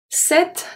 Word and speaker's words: cette: The C is going to be pronounced as a S because it's followed by a E. Cette. But the E, because it's before two consonants, I'm so sorry for that. Because it's before two consonants, is going to be pronounced as a E.